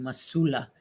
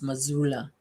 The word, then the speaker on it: Missoula: missoula missoula all right i was saying masula it's missoula i like that how